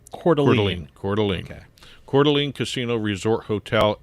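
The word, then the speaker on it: Coeur d'Alene: D Apostrophe a l NE e and it's pronounced cordine Calene Calene Casino Resort hotel and also one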